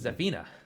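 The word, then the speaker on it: Xina: the name's the name's Zina uh spelled with an X and she has a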